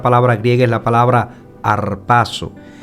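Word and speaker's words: ἁρπάζω: palabra en griego es la palabra que se pronuncia harpazo que significa capturar quitar atrapar tomar por fuerza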